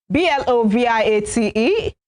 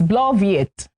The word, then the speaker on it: bloviate: B-L-O-V-I-A-T-E. It's bloviate, bloviate, and it is a verb.